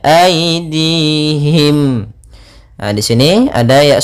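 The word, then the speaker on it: أيديهم: banyak W amilatu aidihim pada lafal Ai di sini ada bacaan Lin yaitu lembut dalam pelafalannya aidihim Nah di sini ada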